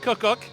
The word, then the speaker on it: KucKuk: expert on that one I pronounce it cook cook like two Cooks here like two Cooks